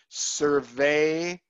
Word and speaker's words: surveillance: there, or that the E and the I is one sound, and that sound is A, the long A sound. Surveillance. Surveillance. Right. Okay. This A is a schwa sound, the sound. Surveillance. Three syllables.